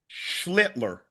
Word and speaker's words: Schlittler: Schlittler.